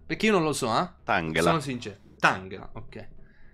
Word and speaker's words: Tangela: Tanghela o Tangela, perché non lo so. Eh, Tangela, onestamente. Tangela. Va bene. E se lo leggessi in italiano? In realtà, Tangela. Va bene . Quindi è tipo "Angela", giusto?